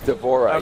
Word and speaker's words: D'Vorah: to do is it how you how' you pronounce her name d'vorah is that right d'vorah yes what's the Swarm Queen variation she's like